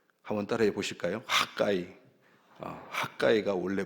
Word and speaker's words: 학개: 모에드 하그이 학계는 이름의 뜻이 나의 절기들이 뜻입니다 학가이 한번 따라해 보실까요 학가이 가이가 원래 발음이고 우리나라 발음은 학계가 되겠습니다 그래서이 학에서는 절기와